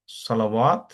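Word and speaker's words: صلوات: সলাহ থেকে যদি আপনি প্লুরাল করতে চান একই নিয়ম, সলাওয়াত। এখানে আবার ওয়াটা উচ্চারণ হচ্ছে, এখানে আবার আত আসছে।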